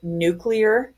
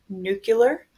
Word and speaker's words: nuclear: pronouncing this chapter correctly it is nuclear chemistry and nuclear reactions not nuclear one of my biggest pet peeves in life is the mispronunciation of this word so please make sure that you are saying it correctly especially if you're ever